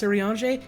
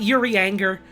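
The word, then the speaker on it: Urianger: in achieving that goal that's how you pronounce irianji yeah all of the elf names are like fake fantasy french and so that's that's about how you pronounce them uh it's it's not yuri anger which is what i thought it was for years before i started playing this game i was like who's this hurry anger guy i keep seeing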